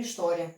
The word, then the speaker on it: história: O H, ele é mudo. O H não tem som não, né? A não ser quando ele aparece com outra consoante. Tipo assim, chave, né? Concordo? Pois é, não tem som sozinho, não. A gente pronuncia isso aqui mesmo, história, né?